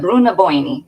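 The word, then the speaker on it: Brú na Bóinne: yes yes so and they they call it Bruna boini is what they how they say it when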